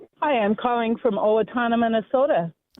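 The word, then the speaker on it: Owatonna: Hi, I'm calling from Owatana, Minnesota. Owatana. Nice little Indian name. Native American. How do you pronounce it? Yes. Olatana.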